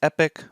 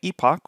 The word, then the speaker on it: epoch: specific word and depending if you pronounce it the American way which is epic or the British way Epoch which is the way I pronounce it essentially one Epoch